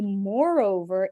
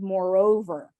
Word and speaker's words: moreover: you nodding so uh the word moreover can be moreover and moreover both are okay people say both options and I've lost Victoria